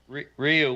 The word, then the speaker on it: Ryu: I just say Ryu, like it's spelled. Ryu.